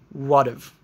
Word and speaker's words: what've: And Again, we might not pronounce the H in have. What have you been up to? We might just make it shorter and say, what've.